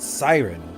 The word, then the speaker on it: Cyronn: His signature is my space character, but Siren is how you pronounce it, like Siren is N, but it's CYRONN.